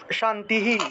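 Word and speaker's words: শান্তিঃ: তাহলে শান্তিহি উচ্চারণ হবে শান্তিহি, শান্তিহি।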